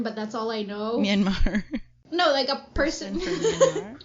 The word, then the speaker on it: Myanmar: talking about, ghosts from Myanmar. I just found out that that's how you pronounce it. Myanmar. Love it. Not Myanmar. Because the entire time we were taught that it was pronounced as Myanmar, right?